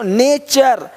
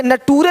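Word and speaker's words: nature: देखो नेचर, यहाँ पे नटूरे नहीं बोलते, नटूरे नहीं, नेचर, है ना।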